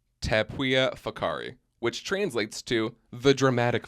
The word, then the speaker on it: Whakaari: I was literally pronouncing it Whakaari until this morning when I was looking up videos, and thank God I was like, oh, that's not how you say it. It's Yeah. Whakaari.